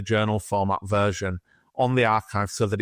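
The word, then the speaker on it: arXiv: been put in the is it the ariv is that how you pronounce it so so archive a rxiv now this is well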